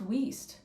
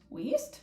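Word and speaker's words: Wiest: a wonderful job um but yeah oh it's pronounced whis whis really okay Diane whis that feels so weird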